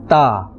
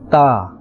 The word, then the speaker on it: ت: of the nit'iyya letters, and it is pronounced from the tip of the tongue and the roots of the upper front teeth. Ta. Ta. Right?